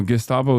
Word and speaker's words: Gestapo: No, Gestapo is correct, or Gestapo is correct.